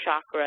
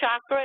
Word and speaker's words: chakra: this sounds obnoxious but there's no such word as chakra and that's the kind of what we hear in the west here um and I'm sorry just when someone says Shakra it's like nailed down a chalkboard I have to I have to call them out on it I don't know why